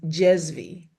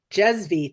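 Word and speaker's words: cezve: V E C E Z V E is Jezvie. Jezvie.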